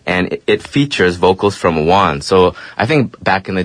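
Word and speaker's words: Wanz: His name's actually Juan's, and he's Macklemore's homeboy from Seattle. Okay. Yeah, so... I thought you said Wong, like an Asian dude.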